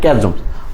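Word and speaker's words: chasms: এরপরে আমরা চলে যাই, the moment two bridge the ক্যাজম, এটা চ্যাজমস না, ক্যাজমস, উচ্চারণ অবশ্য ভুল হলে তোমার সমস্যা নেই, দেখবে না, that divide us হ্যাজ come, what is meant by bridge the ক্যাজমস।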